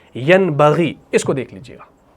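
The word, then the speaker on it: يَنْبَغِي: जब ये यन बगी है यानी नून साकिन के बाद बा आ गया तो इसको पढ़ा जाएगा ऐसे। यमबगी ऐसे पढ़ा जाएगा यमबगी यानी हमने यहां पर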